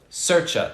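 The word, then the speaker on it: Saoirse: little uh uh tricky can you pronounce cersei sercha no no so she's actually talked cersei ronan is this person you're talking about her name is irish using the irish language which by the way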